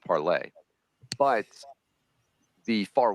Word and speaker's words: Parler: I love that the social media site, of course, is pronounced parlay, but the far right